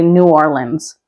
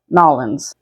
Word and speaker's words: New Orleans: But this one actually has a couple different pronunciations. The majority of people will say New Orleans. There are some locals, depending on their accent, who will call it Nolans.